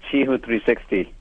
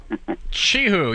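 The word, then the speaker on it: Qihoo 360: Finally, I learned from you how to pronounce it. It's called Chihu 360. Chihu.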